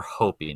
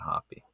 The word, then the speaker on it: Hopi: angeles los angeles area they were hopi not hoppy okay i must i